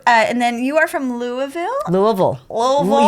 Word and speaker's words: Louisville: then you are from Louisville Louisville Louisville you got as monosyllabic as possible Louisville Louisville Les near